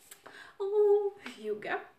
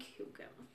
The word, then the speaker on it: Hygge: This will be Hygge. I hope it's pronounced as Hygge.